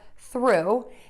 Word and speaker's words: through: through the hoop so in this case the ough is pronounced as an ooh and to start that